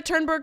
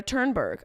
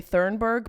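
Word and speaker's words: Thunberg: wondered for months where where is Greta turnberg I think that's how you say it my instinct is to say thurberg but that feels very wrong you know when you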